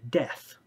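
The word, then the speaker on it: Deth: is a man named death spelled d-e-t-h but pronounced like the word death uh that's actually one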